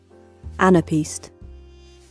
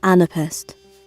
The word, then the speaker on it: anapest: Here's the 2 variants, guys. Here are 2 variants. A unit of sound in poetry consisting of 2 weak or short syllables followed by 1 strong one. What does it mean? Anapest. Anapest. This one is American. Anapest. Anapest. Anapest. Anapest. Anapest. Okay. I think they do not know how to pronounce it right. So it can be Anapest and Anapest.